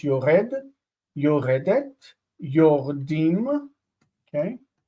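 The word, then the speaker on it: יורדים: The vowel here is reduced. This is a vowel reduction, meaning that this is a medial shva, okay, vocal, which means there's no dagesh in the dalet after it. Yordim, yordim, and yordot, yordot.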